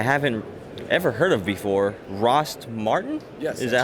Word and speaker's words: Rost Martin: We are at a company that I haven't ever heard of before, Rost Martin?